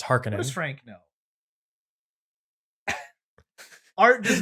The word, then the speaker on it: Harkonnen: it's always be pizza just like it would be uh uh harkonnen that's just how i pronounce it it is actually no there is no side we have recordings of uh uh frank herbert it's harkening frank no art does